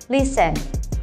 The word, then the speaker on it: listen: Ini ternyata bunyi T-nya nggak usah dibaca, jadi langsung aja kita bilang listen.